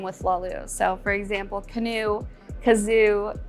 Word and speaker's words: Lahlouh: that has a bunch of different items that rhyme with slalus so for example canoe kazoo tutu bamboo so